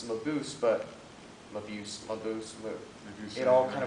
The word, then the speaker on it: Mabuse: It's the correct German version is Mabuse. Right. Although everybody pronounces it Mabuse, Okay.